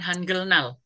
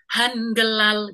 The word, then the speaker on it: 한글날: Jadi kalau yang ini sendirian gini, bacanya Hangelal gitu memang bacanya. Hangelal, Hangelal itu hari Hangel kan gitu. Hangelal, Hangelal. Tapi karena ini ada i lagi, bacanya Hanggelarim. gitu.